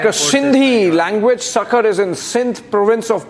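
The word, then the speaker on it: Sukkur: Sakar not Sakar airport. Sucker airport. Yes. Uh the pronunciation is sucker.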